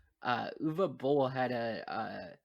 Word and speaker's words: Uwe Boll: why because that's how that's how germans pronounce the w sure anyways what i was saying uh uva bowl had a uh said